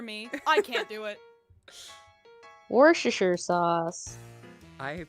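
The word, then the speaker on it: Worcestershire: I can't do it warer sauce I pronounce it wores because it is just easier I pronounce it the Southern way because of course I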